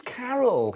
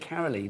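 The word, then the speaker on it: Karyle: I was like, you said Carolee, didn't you? Yes. But it's Carol. Completely wrong. But I've never seen it spelled like that before. K-A-R-Y-L-E. So is that where is Carol from?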